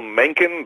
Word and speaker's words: Mencken: you mentioned him although I'm sorry to say you mispronounce his name but HL Menin the great journalist from